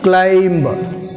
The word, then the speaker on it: climb: Next, climb. Silent letter is B.